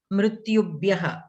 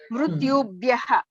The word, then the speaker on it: मृत्युभ्यः: You can pronounce yakara completely. Mrityubhyam mrityubhyah. Don't cut the yakara. मृत्युभ्यां मृत्युभ्यः Mrityubhyam. Ukara you should still pronounce. See, ukaranta guruhu shabda gurubhyam gurubhyah. We are pronouncing the ukara also. We are not cutting it short.